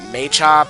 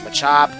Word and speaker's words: Machop: Machop yeah I know in some cases I pronounce it maop and sometimes I pronounce Machop you know what I have to say to that you say tomato I say tomato pretty much is the